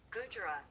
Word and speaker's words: Gujarat: Gujarat.